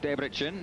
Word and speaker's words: Debrecen: To Debrecen, or Debrecen, as they pronounce it over here.